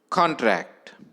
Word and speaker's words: contract: stressed first or second the correct answer is first because contract as a noun receives stress on the first syllable next lecture i shall